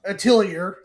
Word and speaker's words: Atelier: Atelier. Thank you. I didn't know how to pronounce that.